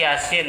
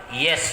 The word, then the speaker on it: Yasin: Misalnya di Yasin kadang-kadang keliru dibaca Yasin, sama dia, padahal beda. Ya itu harus 2, sin itu harus 6. Ya, tapi masih mending lah kalau bacanya sedikit-dikit kurang begitulah. Yasin, ya. Asal jangan dibaca yes saja begitu. Kalau udah dibaca yes sudah salah fatal.